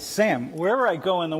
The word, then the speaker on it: Sam: It's Sam. Wherever I go in the world, it's Sam. It's Sam. It's some, I mean, it's like, no, it's Sam. It's like Sam. No, Sam. Sam.